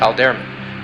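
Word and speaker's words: Alderamin: The brightest star in Cepheus is pronounced Alderman.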